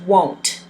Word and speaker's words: won't: saying the words together they put an O there so it's pronounced won't not will not will not hurt it's